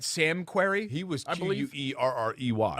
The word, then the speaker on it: Querrey: two r's right sam querrey he was i believe u-e-r-r-e-y okay all right i knew it was a different it was the same pronunciation correct but i knew it